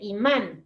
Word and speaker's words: imán: Porque imán, se dice imán, la fuerza está en la A. No es imán, no, no es, es imán. Por eso tiene este acento.